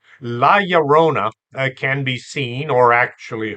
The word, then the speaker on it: La Llorona: They think that the double L is pronounced like a double L, and they try to pronounce it that way. It's pronounced like a Y. La Llorona can be seen or actually heard any time of the year.